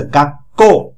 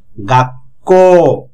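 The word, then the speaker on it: 学校: এরপর আছে সুটা, ছোট ছু যখন হয়, সুটা যখন ছোট হিসাবে হচ্ছে, পরেরটা হচ্ছে, পরের অক্ষরটা ডাবল উচ্চারণ হচ্ছে, গাক্কো। আর উ থাকার কারণে লং ভাওয়েল, অর্থাৎ টানা উচ্চারণ হচ্ছে, গাক্কো।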